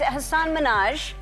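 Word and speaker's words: Hasan Minhaj: Because everyone that says your name says Hassan Minaj. Yeah. But the real way you pronounce it, and this is a big deal because my parents are here. It's Hassan Mina. And people always mispronounce it.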